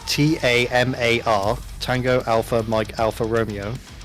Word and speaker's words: Tamar: But when you see when you see a word spelled T A M A R Tango Alpha Mike Alpha Romeo, um, it's pronounced T ma, not Tam R.